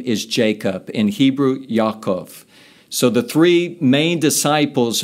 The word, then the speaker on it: Yaakov: We call it in the English culture James, but it's actually his name is Jacob, in Hebrew, Yaakov.